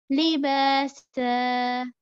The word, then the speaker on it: لباسا: So here we are going to cancel one of the fatha in the fathatain, and we are left with one alif and one haraka, which means that we are going to extend it for about two counts, two haraka, because it is alif madda.